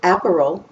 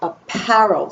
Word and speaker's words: apparel: unit one is apparel we say the par harder than we say the app or the l it's not pronounced aperol and it's not pronounced apparel it's pronounced apparel so the par is